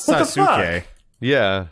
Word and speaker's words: Sasuke: Well, Wait, anyway, Sasuke, you don't pronounce the U? No, you Well, don't. it's not What the Sasuke. Yeah. It's Sasuke.